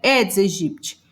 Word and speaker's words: Aedes aegypti: o nome do vetor aedes aegypti tem gente que diz que a pronúncia correta edes egipt qual é a melhor